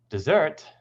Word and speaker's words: dessert: a group of people desert on the first syllable is this hot dry place whereas dessert on the second syllable is something we eat after dinner address is the